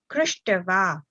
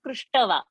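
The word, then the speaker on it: कृष्ट्वा: Karshati krishtva. Okay, enough. So that's fine. So it is not prushtava, okay. It's a half. So prushtva, and not prushtava. Krishtva, and not krishtava.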